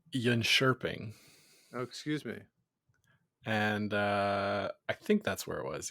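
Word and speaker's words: Jönköping: world junior curling championships took place over in yopin I believe back in Sweden is that right Scott it's uh it's pronounced Yan shering oh excuse me and uh I think that's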